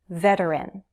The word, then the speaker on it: veteran: Veteran. Veteran. 3 syllables, stress on the first.